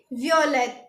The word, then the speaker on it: violet: Guys, ये भी purple colour ही है जो मैंने पहना हुआ है, तो हम इसको बोलेंगे वियोलेट। क्या बोलेंगे? वियोलेट। तो इसको लिखेंगे कैसे? VIOLET और इसकी प्रोनाउंसिएशन होगी VEEOHLAY।